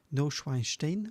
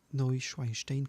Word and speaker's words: Neuschwanstein: Next one is this German Bavarian castle, Neuschwanstein, as far as I remember. That's how it's pronounced, Neuschwanstein Castle.